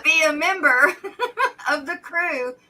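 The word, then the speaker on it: krewe: a member of the crew which is spelled k r w e w right or e-w-e k-r-e-w-e yeah like mardi gras crew then then then there's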